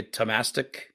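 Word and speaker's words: Thomastik: Here's the truth: I do have some Thomastic, or as you would say, Tomastic. Yeah, I believe would probably be the correct pronunciation.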